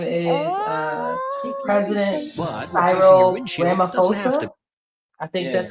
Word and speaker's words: Ramaphosa: His name is President Cyril Ramaphosa. I think that's how you say it, Ramaphosa.